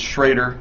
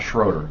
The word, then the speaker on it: Schroeder: And let's make this clear: it's Sshroeder, not Schroeder, correct? It's Sshroeder. It can be pronounced Schroeder, though.